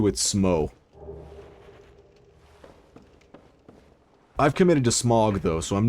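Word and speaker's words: Smough: I hate Orange Street and Smog. By the way, that's how I pronounce it. I'm sticking to that one. I'm not saying Smo. No matter how many video essayists pronounce it Smo, I'm Ornstein and Smog, live and die.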